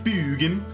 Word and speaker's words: Bugan: So that's, in case anybody's like, how do you pronounce that name? It's Bugan. That's how you gotta do it.